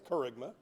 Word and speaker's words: Kerygma: word on the screen and wondering how to pronounce that now you know it's carigma um it's a Greek word and uh in